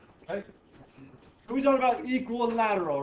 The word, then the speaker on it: equilateral: well this is a u a so it's pronounced differently than you would think okay this is you generally speaking people say equal lateral for some reason I don't know say equilateral but it's technically equilateral sounds really weird this is fun to say